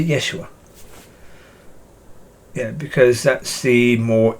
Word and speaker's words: Yeshua: would say yeshua because if you pronounce it more accurately from the jewish pronunciation then it would be more like yeshua so if i was